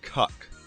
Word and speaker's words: Kek: Also worth noting, it can also be pronounced Kuk.